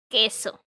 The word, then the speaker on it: queso: you see this case you have to be very careful and not pronounce it because no it's not pronounced that way it's queso and all right so